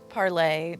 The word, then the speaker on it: Parler: Parlay, but now they're calling it Parler because 'Cause they Americans dumb. are stupid. Because they dumb. Because they dumb. All right, so the Parler will give you two different definitions.